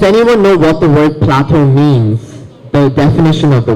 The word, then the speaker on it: plateau: is the word Plateau it's pronounces Plateau with the o sound so this is probably considered as a tricky word we look at it and we go how do I pronounce this word we have e a and u together but it's very simple if you know that this pattern has uh the o sound it's French origin always spelled as e-a-u